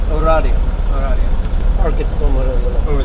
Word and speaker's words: Oradea: Oradea. Oradea.